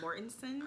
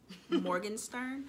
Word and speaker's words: Morgenstern: now it was uh i said her name wrong aaron morgan morgan morgenstern um but um yeah